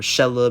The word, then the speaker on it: Shelob: I need a new Shelob set, or Shelob, however you want to pronounce it.